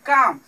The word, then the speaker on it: comb: ठीक है, तो एम के बाद बी हमेशा क्या होता है, साइलेंट होता है। जैसे एग्जांपल है काम। ठीक है, COMB, एम के आगे बी है तो क्या है, साइलेंट है, इसे काम बन नहीं कहेंगे, बी का उच्चारण नहीं करेंगे।